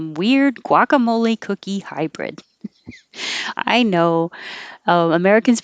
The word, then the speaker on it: guacamole: get that's it but this one we do round our lips gua guacamole they don't taste like